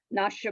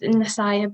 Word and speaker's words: Nasaya: Nasha, a beautiful soul with a political goal. Nasha, are you on? Yes, I am. Hi, it's pronounced Nasaya, but I just wanted to say.